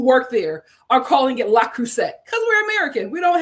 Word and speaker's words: Le Creuset: The T at the end of Creuset is definitely silent. Le Creuset is how it would be said in France.